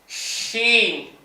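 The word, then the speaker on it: ش: இது வந்து ஷீன் scene, ஷீன் புள்ளி இல்லாமல் சீன், மூணு புள்ளியோடும். ஷீன் வாய் பாருங்க.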